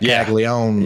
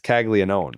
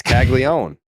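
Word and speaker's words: Caglianone: Jack Kaggleó.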